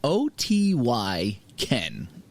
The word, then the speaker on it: Otyken: It's a Russian folk band, and it's called, I don't know how to pronounce it, Otyken. It's Otyken.